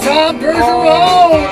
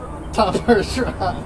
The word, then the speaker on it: Tom Bergeron: Old Tom Bergeron! There we go! Her from my bone! Tom Bergeron. It kind of rhymes with Hiroshima bomb.